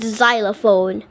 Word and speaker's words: xylophone: to mention the word xylophone the letter X in xylophone is being pronounced as letter Z the the word xylophone